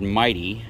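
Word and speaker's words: Mytee: These are made by a company called Mighty, and it's spelled M-Y-T-E-E.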